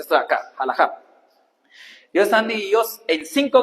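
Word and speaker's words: halajá: judía o rama como tal significa jalaja se pronuncia esto de acá jalaja os están divididos en cinco grandes grupos grupo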